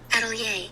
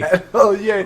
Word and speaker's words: atelier: Atelier. Okay. All right. Eddie Lay. Atelier. That's not how I would pronounce that word.